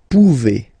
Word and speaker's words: pouvez: A Z like that. Okay? Remember you pronounce it E. Okay? Vous pouvez.